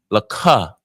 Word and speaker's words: laka: To you, laka.